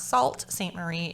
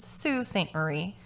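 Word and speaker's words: Sault Ste. Marie: brought to my attention two things that i mispronounced the name of the town that bob dale went missing from it is not salt saint marie it is sue st marie it is my deepest apologies some people were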